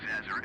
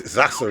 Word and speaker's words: Zasser: 50 Foxtrot India Foxtrot Tango Yankee New York approach continue to Zazzer as planned. Oh, it's Zasser, it's pronounced. Yeah, it's called Zasser. Right, making that turn.